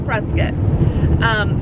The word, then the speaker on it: Prescott: It's spelled Prescott with an O, C-O-O-C-O-T-T, but it's pronounced Prescott.